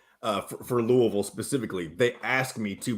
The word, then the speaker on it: Louisville: can tell the guys that don't welcome to Louisville Kentucky which is the exact pronunciation and I don't know when this change